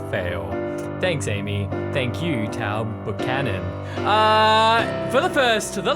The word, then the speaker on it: Taao Buchanan: just been informed that uh the name is pronounced tau buchanan by amy ruffle who's always here to correct me when i fail thanks amy thank you tao buchanan uh for the first the last time ever